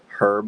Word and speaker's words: herb: spice is cinnamon and herb is basil or basil right that's how they say it over there basil somebody and then they say herb is not herb herb herb how do you